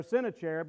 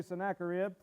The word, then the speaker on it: Sennacherib: may be familiar with sennacherib or sin of cherub depending on how you say it i always say sennacherib he's another king he's